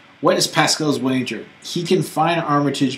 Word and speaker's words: Pasquale: What is Pascale's wager? He can find Armitage before you, thus releasing you. Of, That's how you pronounce it.